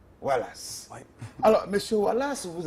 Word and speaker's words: Oualas: Ça s'écrit exactement pareil. O-U-A-L-A-S. Wallace.